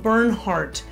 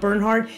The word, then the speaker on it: Bernhardt: They were only a to the trade line, and it's called BERNHARDT, and it's spelled a little odd, but it has a T on the end.